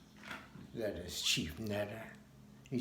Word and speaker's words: neter: The main letters are NTR because the Kemites didn't have the vowel E. And so when, I guess, Egyptologists came across the letters NTR, how do you pronounce that? Well, we just put our E in there, and that'd give us the word netter, and we'd be able to pronounce it.